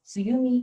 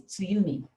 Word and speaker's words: Tsuyumi: It might be a little bit tricky to pronounce it, but please try it and don't mix up with tsunami because I'm not that scary.